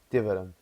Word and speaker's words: tiveram: That last M, the words that finish with an M. Yeah. I think sometimes people struggle with their pronunciation, but I think you actually managed to do a really good job. Tiveram. Because a lot Tiveram. of people say tiveram, Ah, tiveram. tiveram. Tiveram. They really want to pronounce the M, and you don't, so that's good.